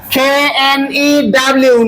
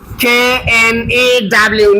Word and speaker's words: knew: KNEW, নিউ। জারিদ, আপনি বলেন, কে কি চুপ থাকবে? জি, আচ্ছা, ও কি ওখানে বসে থাকবে হ্যাঁ না চলে যাবে? বসে থাকবে। কিন্তু উচ্চারণ হবে না, তাই তো?